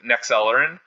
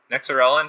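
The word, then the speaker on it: Nexerelin: So overall, it gets a 4.3, and it is compatible with Nexellerin. Nexorelin. Okay, I know I mispronounced it last time, so I'll make sure that I get it correct.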